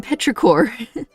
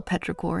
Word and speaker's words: petrichor: how do you spell petra core anyway oh that's not wow okay it's not a silent p i mean you know what i mean petrichorn kind of sounds like